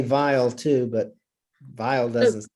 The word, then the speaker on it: Weil: I think Okay, it's Weil. Okay. W-E-I-L. E-I in German would be pronounced as a long I sound. Weil. Okay, I didn't know if the W became a V sound or not, but whatever.